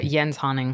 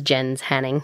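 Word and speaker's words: Jens Haaning: is a great one yen hunting Yen's hunting thank you for the pronoun here cuz when I first pronounced that it was Jen's hanning yeah Jen's Hunning Jen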